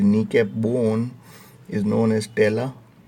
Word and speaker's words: patella: So the kneecap bone is known as tela. P is silent, है ना, we are not reading patella.